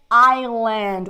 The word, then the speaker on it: island: should see a psychiatrist right next one's is Island we don't say is is we don't say the ass here we don't pronounce the ass so I Island when you